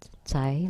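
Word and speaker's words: 仔: Zai la. Zai. It sounds a little close to thief. The 6 thieves. It sounds like the zai in Cantonese.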